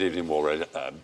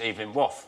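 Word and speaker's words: Evelyn Waugh: Of course he did, Evening War, Brideshead.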